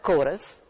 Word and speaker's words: chorus: church chorus is spelled c-h-o-r-u-s church is also spelled c h u r c h in the first word chorus c h has a k sound k in the second